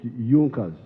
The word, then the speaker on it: Junkers: It is written Junkers, but they pronounced pronounce it Junas.